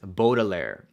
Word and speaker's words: Baudelaire: and I know that the show pronounces it as Baudelaire and in my videos and probably for the next all my videos the way that I'm gonna pronounce it is boggler and I just want